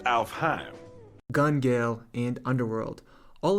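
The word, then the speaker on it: Alfheim: being sword art online alphine uh actually is pronounced alf heim gun gale and underworld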